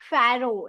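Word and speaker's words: pharaoh: फरो। इसमें कौन सा वर्ड स कौन सा लेटर साइलेंट है? ओ फैरो ओ सॉरी ए ये जो मैंने अंडरलाइन किया है। That's silent फरो।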